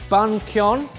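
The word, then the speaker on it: bánh cuốn: So this, I think it's pronounced bun kyon.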